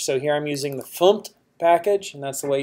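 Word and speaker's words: fmt: imported a package so here I'm using the fum package and that's the way you say it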